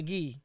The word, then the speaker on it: Guy: so I go by ghee G oh yeah yeah I do the French pronunciation okay so wait so